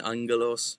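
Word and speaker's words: ἄγγελος: That's is that always in the ng sound. Angalos, right?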